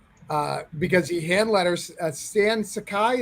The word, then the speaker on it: Sakai: Uh because he handlets Stan Sakai. Is that how you say your last name? Right. Yes. Yeah. Yeah. I said it right. Sans Sakai.